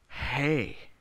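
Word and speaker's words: Hej: How do you spell it? H-E-J, is that what it was? Hey, hey, that sounds Swedish if you say it with a J at the end.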